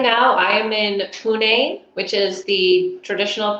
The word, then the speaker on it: Pune: So right now I am in Pune, which is the traditional pronunciation of Pune or Pune.